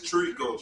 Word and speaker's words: Trikoo: I ain't gonna say the first name because I feel like I'm gonna pronounce it wrong. It's Trikoo.